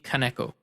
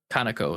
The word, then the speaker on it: Kaneko: including the creator akifumi kaneko uh kanako is probably the correct pronunciation um it'll be a